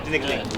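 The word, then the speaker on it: Tinikling: And I hope in return, Eran, you teach Meaghan the Philippine traditional dance, Tinigling. Am I mispronouncing that? That was good, Tinigling. Well, I was afraid I was going to say tinkle, but anyway.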